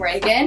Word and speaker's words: Ragan: it's at reagan's reads r-a-g-a-n is my name reagan and that's how you spell it and i'm going to be giving away